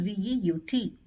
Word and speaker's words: veut: For il and elle, it is V-E-U-T, il veut, elle veut. However, the pronunciation for all these three remains the same.